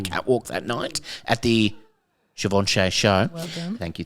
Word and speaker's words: Givenchy: Givenchy. Givenchy.